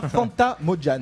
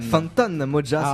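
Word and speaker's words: Fantan Mojah: Tu nous présenteras Fanta Mojan. Fantan Moja, c'est exactement ça. Je prononce ça.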